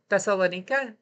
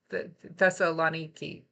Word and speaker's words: Thessaloniki: Hailing from the vibrant city of I always pronounce this wrong, apologies, Thessalonica, Thessaloniki. I think that's how you say it, sorry.